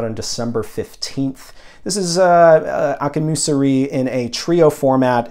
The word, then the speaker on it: Akinmusire: that I wanted to bring up is by Ambrose Akinmusire, I believe is how you pronounce his last name. And the title of the album is called Owl Song. It's coming out on December 15th. This is Akinmusire in a trio format.